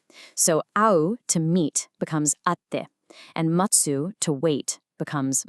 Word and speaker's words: atte: For any of these verbs, you're gonna drop that last syllable and replace it with a little tsu and a te, which sounds like a hard stop. Te. So au, to meet, becomes atte, and matsu, to wait, becomes matte.